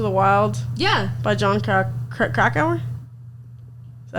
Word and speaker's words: Krakauer: By John Krakauer? Is that how you say it? Yeah, I think Kerouac? So. Krakauer. Oh, it is Krakauer.